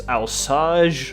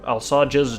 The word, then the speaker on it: Alsage: It's Alsage, or Alsages, depending on whether you give a French pronunciation or not, which has a small deposit of plutonium on it.